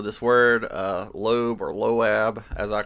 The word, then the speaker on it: Loab: read the Bible and the word Moab is a it's a an ancient group The moabites m-o-a-b and so lowab l-o-a-b that's how I I this is how I pronounce it uh anyway so loab